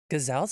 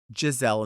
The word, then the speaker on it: Giselle: Gazelle's a sickening drag name. It is. But what about if somebody's name was Giselle and they mispronounced it as Gazelle?